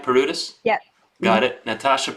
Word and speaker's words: Paroutis: Am I pronouncing that right? Paroutis?